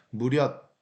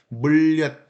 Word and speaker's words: 물엿: 예를 들자면은 물엿 같은 경우는 사실은 우리가 원칙적으로는 무렵 이렇게 하는 게 발음이 더 편해요. 무렵. 근데 물엿 이렇게 좀 강하게 떻게 보면 발음이 좀 더 어렵게 느껴질 수 있는데 일부러 강조하기 위해서 니은 첨가 현상이 벌어져서 물엿 이렇게 발음을 하는 거죠.